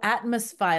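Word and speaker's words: Atmosfy: that oh yeah okay it's spelled kind of weird that's why I was like it's kind of hard for me to say sometimes a m o FY oh Atmos FY like atmosphere got it okay it's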